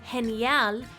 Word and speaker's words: genial: used to in English but the G and genial sounds more like an H because it's paired with an E Remember that the H